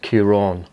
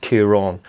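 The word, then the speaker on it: Ciarán: on the last day there should be a little accent called a father and that makes the a elongated so it's pronounced curon that's how my name is pronounced kiron everyone just called me kieran though anyway you would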